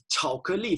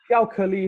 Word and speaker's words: 巧克力: What was specific word when we when you 巧克力, it sounds like chocolate.